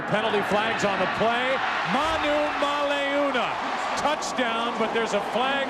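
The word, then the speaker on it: Manumaleuna: he may force you to learn how to pronounce his name Brandon Manu maluna got it that's it you score a touchdown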